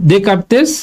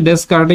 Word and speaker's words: Descartes: scheme আর হচ্ছে কি ডে কারতেস rules of sign তাই না আমরা পড়ছি এটার নাম লেখা হচ্ছে ডস কারে কিন্তু আমরা তো জানি যে এটার উচ্চারণ হবে কি ডকারতে রুল অফ সাইন্স আচ্ছা এরপর রিলেশন বিটুইন